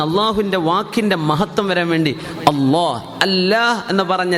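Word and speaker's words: الله: അല്ല അത് ശരിയാണ് കുഴപ്പമൊന്നുമില്ല പക്ഷെ അതിന്റെ ശരിയായ ഉച്ചാരണം ആ ജലാലിയത്തിന്റെ അല്ലാഹുവിന്റെ ഇസ്മുൽ ജലാല ആ മഹത്വപ്പെടുത്തുന്ന അല്ലാഹുവിന്റെ വാക്കിന്റെ മഹത്വം വരാൻ വേണ്ടി അള്ളാ അള്ളാ എന്ന് പറഞ്ഞ ലാ എന്ന് എവിടെ നാവുകൊണ്ട് പറയുന്നുണ്ടോ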